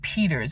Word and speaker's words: Pitters: Patrick Dalton pitters or Peters I think it's pronounced Peter's but it's spelled pitters and his family members